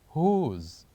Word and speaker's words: whose: the word is whose whose so what is the silent letter of the word whose the silent letter the letter that we don't say and the word whose is letter also W so here we do Circle